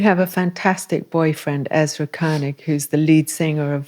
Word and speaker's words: Koenig: That's the right Koenig. Yes, that's the German pronunciation.